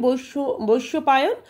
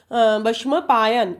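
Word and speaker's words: वैशम्पायन: शिष्य थे विषम पायन हम लोग बंगला में बोलते हैं बश पायन लेकिन हिंदी के उच्चारण होते हैं बशम पायन यह जो अंग है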